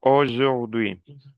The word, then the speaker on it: aujourd'hui: Attention, aujourd'hui. Demain, lundi, c'est bien. Continue, continue. Luciana. Aujourd'hui, Ah, ah. mardi. Attendez. Aujourd'hui. La Aujourd'hui, con la U se pronuncia O.